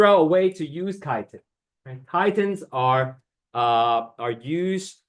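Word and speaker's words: chitin: we don't eat last one kiten this is pronounced kiten the h i t i n kitan is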